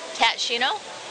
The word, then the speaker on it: Tat Shinno: We're, let's see, Tat, how do you say it? Tat Shinno? Yes.